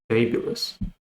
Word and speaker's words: fabulous: The stress is on the first syllable. So fabulous.